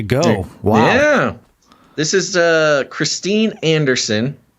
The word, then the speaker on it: Christine Anderson: This is Christine Anderson. I believe that's at least the American pronunciation of her name here.